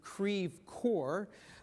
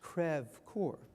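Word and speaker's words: Creve Coeur: which Lok Dubois is located is pronounced not pronounced as we do Creve core but the French crev Corps later I can tell you the story about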